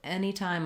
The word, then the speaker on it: anytime: him anytime um basically this letter a is going to be the f sound like in many or men even though we spell it with a so any we could rewrite that like this like the any in penny um or we could write it like n any time for our time